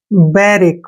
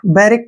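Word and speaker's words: barrack: है next word है बी A double R ए सी के ठीक है ना इसको देखि लिखते कैसे हैं बी का उच्चारण हम बे के रूप में लिखते हैं डबल आर को र के रूप में लिखेंगे ठीक है ना ऐसे र और ए को ए के रूप में लिखेंगे सी के का प्रोनाउंस क करेंगे ऐसे बिक क्या पढ़ेंगे इसको बैरिक बैरिक क्या होता है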